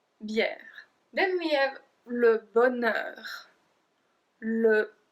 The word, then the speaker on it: bonheur: Then we have le bonheur. Le bonheur. I don't know why there's a H in that. I have no idea. We don't pronounce it, so just make sure